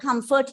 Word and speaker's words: comfort: words like comfort right in the word comfort the word comfort is a noun and it's of two syllables so as for the rule the stress should be on the first syllable so you read the word as comfort so using this base